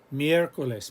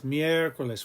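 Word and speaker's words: miércoles: miercoles periodical antibiotico sientifico every vowel that has an accent mark that's going to be the stressed vowel for sure you can see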